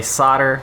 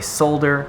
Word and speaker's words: solder: So apparently you can pronounce it either way. Americans say solder, British people say solder.